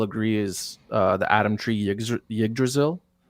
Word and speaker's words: Yggdrasil: what we're seeing in the middle here, I think we can all agree is the Adam Tree Yggdrasil, Yggdrasil.